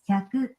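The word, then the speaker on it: 百: Hey Google, how do you say 100 in Japanese? In Japanese, that's hyaku. Hyaku.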